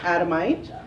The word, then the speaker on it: Adamite: my name is adamite last name rhymes with dynamite so i'm the dynamite